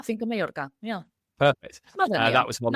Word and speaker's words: Finca Mallorca: I said Finca Mallorca. Is that right? Finca Mallorca? Yeah, Finca Mallorca.